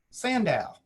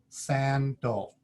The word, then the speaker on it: sandal: let's read another word if i read it with the way it looks if i didn't know the word i would read san dao sandow but you guys know that we don't read this word sandal how do we normally read it or how do we say it san dol and so the second a once again the second vowel is a schwa here's some more words